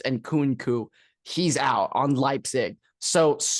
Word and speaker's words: Christopher Nkunku: I thought it was Nkunku, but I'm pretty sure it's Nkunku.